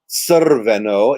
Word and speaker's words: crveno: So actually what you're saying here is Crveno. It's like TS with a schwa and then the R.